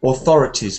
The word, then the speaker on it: authorities: But before you do, while you're looking for one of those words, I noticed that some of your TH sounds are not pronounced quite as a th. So authorities, for example.